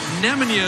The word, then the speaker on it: Nemanja: nemanja via eliza uh you have gone with nemanja is the correct pronunciation we want to make